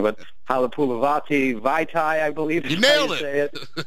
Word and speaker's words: Halapoulivaati Vaitai: We also drafted I'm going to mess up the pronunciation of his name, but Halapoulivaati Vaitai, I believe.